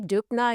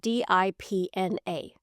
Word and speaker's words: Dupna: How do you say Dupna again? He asked. Think of it this way. Pretend it's spelled D I P N A.